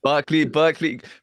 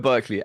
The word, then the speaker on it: Berkeley: Did I say it right? It's Berkeley, bro. Go with Berkeley.